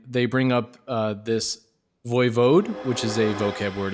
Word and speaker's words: voivode: a slovak word which i looked up how it's pronounced and it's way cooler it's watchfidel which is it's pretty cool